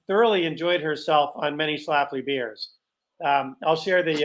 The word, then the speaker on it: Schlafly: laugh and then l-e-e so it looks like chalaflee but that's not how you do pronunciation guides uh for for words